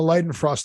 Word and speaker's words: Leidenfrost: Technology is based on the Leidenfrost effect. The fact that I know how to pronounce that, it scares me that I know that's correct pronunciation.